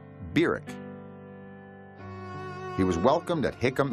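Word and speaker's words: Barack: in August of 1959 was birck Hussein Obama that's how he pronounced his name Beck he was welcomed at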